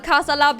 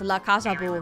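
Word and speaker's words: La Casa Boo: Wait, it's La Casa Bu. My bad. I was saying it wrong.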